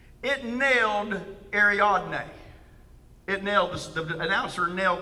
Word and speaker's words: Ariadne: Well, when it came to pronouncing this dog's name, it nailed Ariadne.